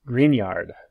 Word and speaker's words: Grignard: preparation of alcohols via green yard reagents spelled grignard pronounced grignard grignard reagents take the